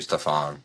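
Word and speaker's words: Stephon: two and then have Steven Castle at the two. Yep. Steph will be great. Stephen spelled the same. Stephan Castle. We're not talking about Wardell. Stefan. It's actually Stefan.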